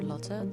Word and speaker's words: Lotte: My name is Lottie or Lotte, depending on how you want to pronounce it.